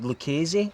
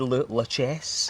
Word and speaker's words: Lucchese: considered to be good, like Lucchese. I said it right this time. The key. Yeah, because I said La Chesse. La Chesse.